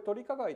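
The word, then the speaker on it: 図利加害: 的使用、これ取り加害と読むんですが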